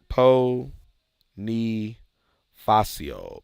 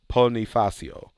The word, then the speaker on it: Ponifacio: okay I'm reloading Reloaded po knee facio Pony facio okay Pony facio ponifacio where am I putting